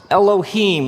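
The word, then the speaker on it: אלוהים: it would look something like this and it's pronounced Elohim let me hear you say Elohim in the beginning Elohim created the heavens and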